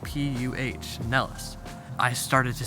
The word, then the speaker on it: Pinellas: They wanted me to pronounce it Pinellas. They actually spelled it out, P-U-H, Nellis.